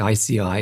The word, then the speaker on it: IASEAI: We pronounce it ICI, but it's easy to misspell.